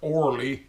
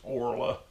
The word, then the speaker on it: Orla: Today I think I'll talk about my Aunt Orla, or Orly we call her. I think the proper pronunciation of her name is Orla.